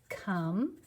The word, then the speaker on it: come: Come. C-O-M-E. It's not a silent E because it's not saying an O.